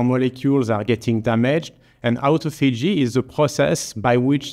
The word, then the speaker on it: autophagy: This is pronounced autophagy, not necessarily with my French accent, because it was actually discovered by the Japanese scientist, Dr.